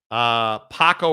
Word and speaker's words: Paco: Paco rhymes with taco.